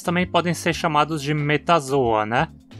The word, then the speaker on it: Metazoa: Enfim, se metazoa é pronunciado como uma paroxítona, o mesmo vai ser válido para qualquer nome terminado em zoa, como placozoa, ecdysozoa, nefrozoa.